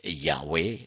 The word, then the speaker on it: Yahweh: is wrong they say Yahweh is admittedly Superior to Jehovah the wrong spelling Jehovah occurs since about 1100 and then it offers its arguments in favor of Yahweh as a correct and original pronunciation this is from let